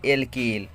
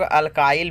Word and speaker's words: alkyl: ए के ए ल इसको हम लोग बोलते हैं क्या बोलते हैं एल्किल कुछ लोग अल्काईल भी बोलते हैं खैर दोनों सही है उच्चारण में कोई बहुत